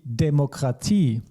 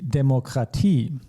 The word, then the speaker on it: Demokratie: And IE, which we pronounce as I in German. So die Demokratie, the democracy, die Demokratie.